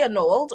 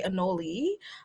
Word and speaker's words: anole: um you can say an old or you can say anoli either okay i was